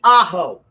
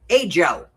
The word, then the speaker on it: Ajo: It's Aaho. My mother refused and always pronounced it a Joe. It was a Joe forever because she just wouldn't say ao.